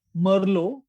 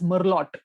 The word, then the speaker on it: Merlot: So a lot of people would pronounce Merlot, Merlot, as Merlot, because Right. that's how it should be. If there is a T, you should pronounce it, but it's French. So it Right. becomes Merlot. Or it's a Bordeaux.